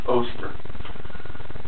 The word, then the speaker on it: Oster: I don't think it's pronounced Oster. I think it's Oster.